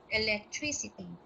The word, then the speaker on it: electricity: alignment this chess or accent in the word electricity is found on its third syllable electricity so with this example there